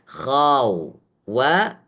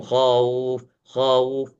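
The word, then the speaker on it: خوف: Tapi membacanya khau khau wa maftuhah. Arti wau maftuhah ini wau yang terbuka. Harus dibuka jangan sampai dihimpit membaca khau. Ini kebanyakan keliru. Ketika membaca min khauf langsung khauf khauf.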